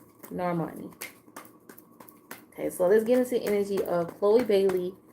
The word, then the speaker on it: Normani: gosh, why am I always saying her name wrong? It's Normani. Normani.